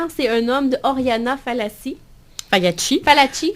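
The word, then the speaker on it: Fallaci: un homme de Oriana Fassi fi fi faut la prononcer à l'italienne c'est une italienne effectivement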